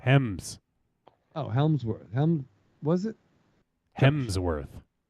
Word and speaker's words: Hemsworth: There's the Baldwins, and the Helmsworth probably would be a better Helmsworth. The Battle of Helm's Deep. Hems. Oh, Helmsworth. Was it? Hemsworth. Yes, there's no L. No. Think about the hem in your pants.